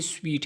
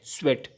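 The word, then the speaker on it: sweat: की जगह ए है स्वेट इसका प्रोनंसिएशन भी स्वीट से डिफरेंट है लेकिन बाज लोगों को यह पता नहीं है और व स्वेट को भी स्वीट कहते हैं जो कि पसीने को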